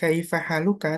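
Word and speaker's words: كيف حالك: Maka ketika kita di sini tulisannya kaifa haluka, tapi ketika kita ucapkan kita bacanya kaifa haluk. Tetap kita berhentikan.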